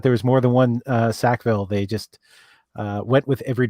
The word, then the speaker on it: Sackville: By the way, for Tim Rial, Tim Rial, just to confirm with him, it is pronounced Sackville, not Saxville.